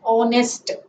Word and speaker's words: honest: this case it is h is silent letter okay so in such